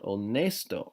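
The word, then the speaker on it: honesto: generous all nice though remember the H is silent onest Oh honest so lots of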